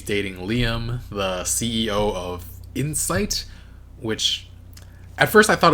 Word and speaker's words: Incite: So why would somebody name a company Incite, but pronounce it like Insight?